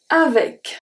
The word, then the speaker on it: avec: Avec. Avec. This one is very interesting. The E before the C make the sound E.